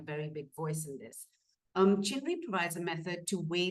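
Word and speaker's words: CHNRI: The acronym is pronounced CHINRI, which was developed about 20 years ago.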